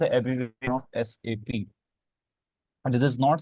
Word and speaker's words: SAP: commonly Pakistan में इसे safe pronounce करते हैं हम but this is not safe this is एस एपी तो आज से हमेशा आपने इसको एस एपी प्रोनाउंस करें अच्छा व्हाट इज एसपी